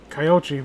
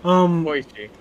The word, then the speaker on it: Koichi: fucking teaching Kyoichi, what was I saying? Koichi. Koichi. Teaching, I mispronounce everything.